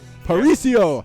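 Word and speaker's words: Paraíso: devil I hear it yeah go transition fantastic paricio I love this map thank you for saying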